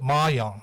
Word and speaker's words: mahjong: John of God Church, and enjoys embroidery and playing, and what's it, mahjong, right? Yes, Am I pronouncing it right?